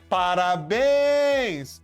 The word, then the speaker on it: parabéns: Parabéns! A sílaba forte é a última.